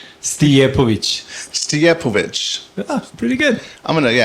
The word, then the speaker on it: Stijepovic: Stijepovic. That is cool. I was wondering how you pronounce it.